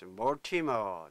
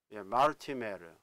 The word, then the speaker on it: Mortimer: 예, 모티머. 자, 이거 모티머가 이게요. 이 라틴어에서 온 단어라고 합니다. 그래서 마르티메르. 마르티메르. 이건 라틴어 발음이고, 영어식으로 하게 되면 모티머.